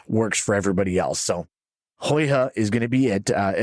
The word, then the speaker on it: Huyghe: It's a fourth generation brewery called, see, I can pronounce this right. It's Huyghe. And I did do some research on it, so I did look it up. Huyghe is what they have gone with.